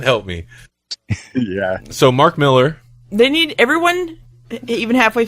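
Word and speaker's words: Millar: ways um me too appar apparently he has pronounced as Miller in uh interviews okay so I guess it's Miller but I've been pronouncing it marar for a long time too so well just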